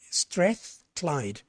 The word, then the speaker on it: Strathclyde: That's how you pronounce it, Strathclyde.